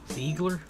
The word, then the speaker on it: Ziegler: Ziegler? Do like a T, like do like a TS instead of a Z. Ziegler. Ziegler? No, don't go like Z. C. Like Ziegler.